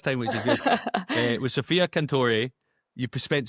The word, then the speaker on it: Sofia Cantore: I missed, how do we pronounce this player's name? Sofia Cantore.